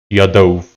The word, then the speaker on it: Yadov: Is that correct? Yadov. That's how you say it.